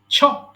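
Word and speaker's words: chop: ধরা বেট বেট বেট ছপ টুকরো টুকরো করে কাটা একটা উচ্চারণ খেয়াল করেন আমি কিন্তু চপ বলি নাই আমি ছ বলেছি ছপ ছপ ছপ ছপ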